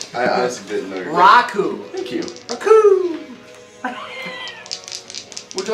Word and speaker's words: Raku: Could we maybe pronounce the name correctly? It was funny the first 90 times, but Nah, Roku. I don't even know your real Yeah, name. it's Raku. Raku? Yeah, it's Alright. R-A.